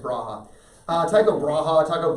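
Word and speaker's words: Brahe: bra depending on how you pronounce it I pronounce it brave but apparently it's Braha uh type of Raja Taco bread whatever his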